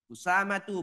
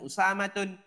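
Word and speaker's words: أسامة: hamzatu thhatu bukan thhatun usamatu bukan usamatun muawiyatu bukan muawiyatun dan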